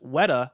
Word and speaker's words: Weta: uh kebab says uh weta is pronounced weta like wet because i said wait uh uh also the